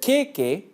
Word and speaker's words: kēkē: The word kēkē, with tohutō on both ‘e's, means armpits. So it’s important to pronounce the word properly if you see a